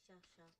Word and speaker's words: Shasha: My name is Shasha. But out of character, I You'll. mean, you would say the actual right pronunciation.